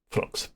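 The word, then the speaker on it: Phlox: I can't remember how to spell it, but I know how to pronounce it. Flux.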